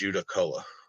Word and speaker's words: Judaculla: So, and and I've encountered the the Judacula before. A lot of people have a hard time saying it, but the way I've always heard it pronounced is Judacola.